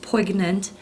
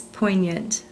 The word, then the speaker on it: poignant: Our next word this week is poignant. Please note that there's a G in this word, but it's silent. It's not pronounced poignant, it's poignant.